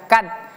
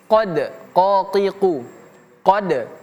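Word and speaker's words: قد: Ini huruf qof tidak seperti huruf k. Jadi jangan sampai kita baca kad tapi qod qad.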